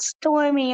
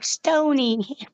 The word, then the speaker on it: Stony: me stormy ah like I'm not stormy I'm Stony yep it's something with